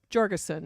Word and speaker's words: Georgeson: Georgeson is the way he pronounced it. I asked him. Kind of a hard G.